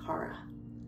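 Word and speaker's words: χαρά: And the word actually is almost exactly the same as joy, which is pronounced kara.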